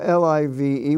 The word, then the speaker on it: live: is pronounced give or l-i-v-e which is pronounced live uh and in the in